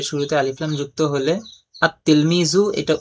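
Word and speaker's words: التلميذ: যেমন উদাহরণ দেওয়া হলো তিলমিজুন এর শুরুতে আলিফ লাম যুক্ত হলে আত-তিলমিজু এটা উচ্চারণ হবে আত-তিলমিজু, কিন্তু লেখার মধ্যে আত-তিলমিজু লিখতে হবে, লেখার মধ্যে লাম লিখতে হবে, কিন্তু উচ্চারণের মধ্যে লাম উচ্চারণ হবে না।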